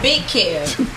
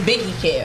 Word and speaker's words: Biggie Kev: But you it's not Big Kev. It's Biggie Kev.